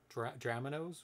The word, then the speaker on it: Dramanoes: it's or drama knows it could be either way like dominoes drama nose would probably be drama nose okay the background of